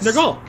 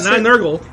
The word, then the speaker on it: Nergal: Nergal. Nergal. Not Nurgle. Nurgle. There's no E in there.